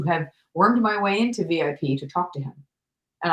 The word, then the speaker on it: Vie: is your middle name my middle name is v v i e like c'est la vie uh I think it